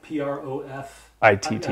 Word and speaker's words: Profitt: and your last name is Profitt, P-R-O-F-I-T-T. I-T-T. Mm-hmm. It's pronounced Profitt.